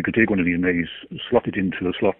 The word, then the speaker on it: Me: And the hard drives of these computers are something called a May. It's spelt M-E, but pronounced May, as in the month of May.